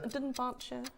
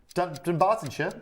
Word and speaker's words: Dunbartonshire: Where can't you pronounce? Let's play the Dunbartonshire. Dunbartonshire. Dunbartonshire.